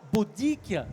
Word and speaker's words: Baudic: il s'appelle jean marie baudic et qu'on soit bien d'accord on prononce bien baudic même si les bretons dit pas pour tweak d'accord voilà c'est comme ça chers amis bonjour ça